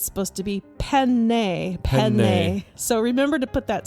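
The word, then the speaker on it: penne: way to say it you don't say pen pasta it's not pen pasta it's not pen pasta no it's pen pen there's two n's oh the old Italian pronunciate cuz there's two of the same consonant so it's a long cons very important to say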